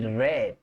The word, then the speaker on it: read: El verbo leer se dice read en presente y red como el color rojo en pasado. El verbo comprar, buy, como cuando decimos adiós, y en pasado decimos bought.